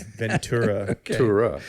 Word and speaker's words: Ventura: s Ventura no not chura okay churo it's Ventura right I just want to make sure we got that right because absolutely there are people from Ventura who say vura that well they look get